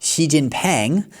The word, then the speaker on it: Xi Jinping: Xi Jinping, neither of these are right, okay? His surname is Xi, which it starts with X, and the X sound in Chinese, to